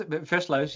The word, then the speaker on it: Versluis: Verslau, It's my no, it's Versluis. Versluis, Versluis. Versluis.